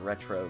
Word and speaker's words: Retreaux: They're publishing this game, and the people who developed it are friends of theirs called Retro Games, spelled like RETREAUX.